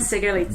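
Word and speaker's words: Sikharulidze: So I'm going to butcher these guys' names. Sigerlitsi? Yeah. Come on, I want to hear it. Bereznaya and Sigerlitsi.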